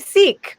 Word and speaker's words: Seek: And so we're gonna oh, Steve Seek. Great. He just wrote in the comments, rhymes with freak.